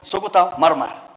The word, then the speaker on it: Sukuta Marmar: You know, you have difficulties in pronouncing these things, but for us pastoralists, you know how to pronounce. It's called Sukuta Marmar, and it is in Samburu.